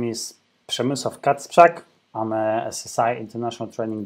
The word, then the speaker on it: Przemysław Kacprzak: My name is Przemysław Kacprzak.